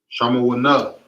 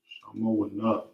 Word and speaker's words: Shamawana: Number 8 is going to be Shamawana. Shamawana. Okay. Number 8 is Shamawana.